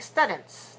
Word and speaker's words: students: you know students but make sure you're not saying students not students but ooh ooh students watch your lips forward forward for rounded students I'm a student